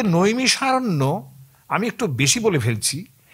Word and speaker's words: নৈমিষারণ্য: সেটা নৈমিষার থেকে দেখুন ওরা খ উচ্চারণ করে তার থেকে হয়ে গেল নিমখার নিমখার কিন্তু স্টেশন আছে